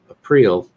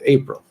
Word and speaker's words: Aprille: how to say it i'm going to change the pronunciation to april and so i asked